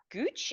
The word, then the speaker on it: Gooch: So, you're here chatting with Nicole Kaine and Chris Guch. Is that how you pronounce it?